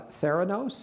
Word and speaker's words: Theranos: Holmes uh is founder and CEO of uh Theos am I pronouncing that correctly you are uh which she